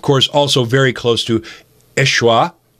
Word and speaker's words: Yeshua: also very close to Yeshua which is how you pronounce Jesus in Jesus original Aramaic tongue how Jesus would have